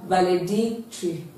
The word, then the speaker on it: valedictory: is d i c so the stress is on dick so we have valedictory the answer is option